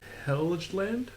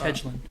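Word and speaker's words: Helgeland: Heland. Helgand to write the crossover based on the comic series Django and Zoro. It's Hedgland.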